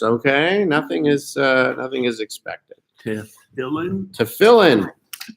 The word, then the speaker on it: Tefillin: Tefillin. I pronounced it right.